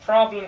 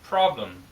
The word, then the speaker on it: problem: problem 같은 경우도 R 발음이 있죠. 그래서 R 발음을 위에서는 for 할 때 이렇게 된다고 했었는데 여기서는 보시면 pra 똑같이 혀가 천장 안에 닿긴 하는데요. 이것보다 좀 더 굴려주셔야 돼요. 그래서 pra 해서 problem 하시면 됩니다.